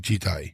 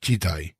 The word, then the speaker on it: 時代: The second compound is Jidai, and is typically translated into English as period. The first kanji, pronounced ji here, involves time.